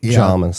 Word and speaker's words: Jamis: seems to be Jamis.